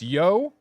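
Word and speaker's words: Yōtei: It's Yotei. T-A-Y.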